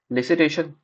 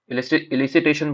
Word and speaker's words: elicitation: लिसिटेशन, इलिसिटेशन बोलो या लिसिटेशन बोलो, वेयर ई साइलेंट है। यूके में ई साइलेंट बोलते हैं और यूएसए में ई को लेके बोलते हैं। तो इलिसिटेशन और लिसिटेशन दोनों करेक्ट है।